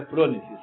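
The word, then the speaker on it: phronesis: É fres ou fronêes? Frônesises, tá? É eu que de vez em quando erro, né? Mas é pronesis o nome, a pronúncia certa.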